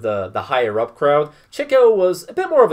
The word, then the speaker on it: Chico: up with his chico his brother yes it's pronounced chico he often speaks in this faux italian accent